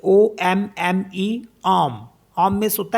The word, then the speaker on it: homme: For example जैसे HOMME है ना, तो इसको हम पढ़ते हैं यहाँ पे क्योंकि एच साइलेंट है तो एच को नहीं पढ़ेंगे, ओ से स्टार्ट करेंगे।